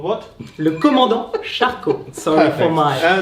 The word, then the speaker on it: Le Commandant Charcot: Le Commandant Charcot. Sorry Perfect. for my It's all right, at least French. you pronounced it correctly.